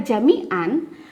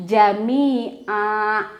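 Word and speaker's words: جميعا: sama dua harokat saja kalau tanpa apa ketika kita tidak berhenti maka bacanya Jami An tapi ketika kita berhenti dikata Jamian maka cara pembacaannya Jami ah atau Jani ah Cukup dua harokat saja di Ustadzah menemukan ada beberapa yang membaca begini Jamian itu dipanjangkan tapi tanwinnya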